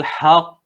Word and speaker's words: الحق: Maka bacanya al-illal haqq. Haq, tekan dulu, haq, kemudian lepaskan suara, dia bunyi qalqalah.